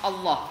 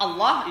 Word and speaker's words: Allah: Jadi huruf lam yang terdapat dalam lafaz Allah itu cara membacanya dibagi menjadi 2, yaitu tafkhim atau tebal dan kedua tarkik atau tipis, tergantung pada huruf sebelumnya. Jadi kata Allah itu bisa lamnya bisa dibaca berbeda tergantung huruf sebelumnya.